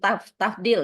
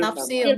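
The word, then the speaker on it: تفضيل: Yang khobarnya adalah ahsanu ini ini ahsanu berarti isim tafdil ya. Tafdil Pak, bukan tafsir. Bukan tafsil Pak, saya juga bingung bacanya.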